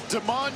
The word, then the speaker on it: Demon: Spelled like Demon. It's pronounced Deman.